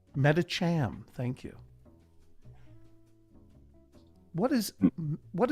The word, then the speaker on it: Medicham: ruling on that pronunciation that's uh that's medicham meta cham thank you what is